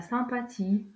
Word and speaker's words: sympathie: D'un H, une silhouette, la sympathie, un bonhomme. Dans ces exemples, on ne prononce pas la lettre H.